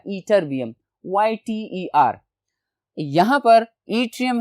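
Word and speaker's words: ytterbium: ठीक है students, YTT से इसकी स्पेलिंग शुरू होगी लेकिन प्रोनाउंसिएशन इसकी है ईट्रियम, और उसके साथ एक और एलिमेंट था ईटरबियम, YTER।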